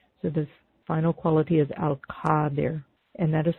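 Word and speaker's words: القادر: So the final quality is Al-Qadir, and that is spelled, let me spell it, Q-A-D as in David, I-R, Qadir.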